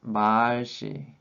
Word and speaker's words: 말씨: And 말씨, this one also has a long vowel in the first syllable, that is 말씨.